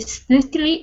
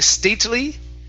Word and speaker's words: stately: The stately White House. Okay, now, in this situation, this T we're going to mix with the L. So instead of saying stately, okay, it's stately, stately.